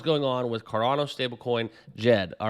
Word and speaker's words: Djed: get down into it you can see uh Jed right so very subtle D in the beginning as I was once corrected on the pronunciation of this stable coin okay so this is